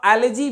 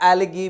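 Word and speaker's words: algae: इसका एक बार फिर से याद रखिएगा, एलर्जी भी प्रोनाउंसिएशन होता है और एलगी भी प्रोनाउंसिएशन होता है, दोनों प्रोनाउंसिएशन सही है।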